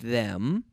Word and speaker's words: them: contest Aaron I asked them but they didn't answer I asked them closing my mouth with the letter M them I asked them but